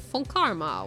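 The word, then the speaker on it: von Karma: his voice I mean is it not pronounced with like an F bone Karma like I I feel I feel like I feel like it's supposed to be pronounced with an F unless I'm like completely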